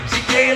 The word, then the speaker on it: Shigga: Homie, gotta pronounce my name right. Shaggy, Shigga, let's see, go see me by the side.